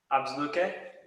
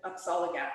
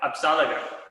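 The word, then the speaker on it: Apsáalooke: So when, I'm gonna try to pronounce it, Absluke? Apsalagat. Absalaga, there, thank you.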